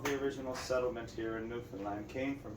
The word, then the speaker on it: Newfoundland: Now a scoff is a dance, and in Newfoundland a blue star is a beer, and it's pronounced Newfoundland, not Newfoundland or Newfoundland.